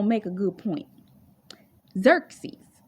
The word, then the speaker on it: Xerxes: because of the fact that I heard somebody mispronounce his name and it's going to make a good point Xerxes Xerxes called vashi out to be paraded before the